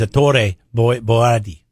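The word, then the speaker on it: Ettore Boiardi: I think his real name is his born Italian name is Ettore Boyardee. God, that's offensive, right? Did I just offend all Italians with that pronunciation?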